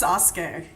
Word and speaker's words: Sasuke: It's pronounced Sasuke. Yeah, that's a minefield. Sasuke.